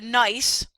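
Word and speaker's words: NYeC: So this is about the New York or the NICE is how it's pronounced.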